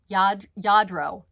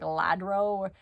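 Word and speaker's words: Lladró: It is a NAO 1349 by Yadro. I said it right. Yadro. It's spelled L-L-A-D-R-O. So I used to say like Ladro, but it's Yadro.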